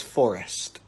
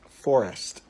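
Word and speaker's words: Sssst: 4 3 2 1 this child's name is Forest get it Forest it has four S's and a t Forest but this is no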